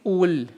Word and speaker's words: ul: término que es atole aquí tenemos la preposición ti y luego las dos sílabas u y li dice ti ul atole es la es